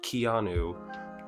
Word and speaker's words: Keanu: about that thank you people were telling me it's just like Keanu Reeves okay so moonji in